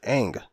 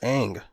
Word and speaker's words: Aang: cartoon if you will if they called him ong through the whole thing and they just said that's how they pronounce it okay there's no problem with thong but they pronounce it aang so therefore it's ang call him aang don't call him something that